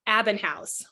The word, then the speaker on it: Abbenhaus: we say your last name how do we pronounce what what is your full name uh it's abinh housee abinh housee yep okay and we'll put all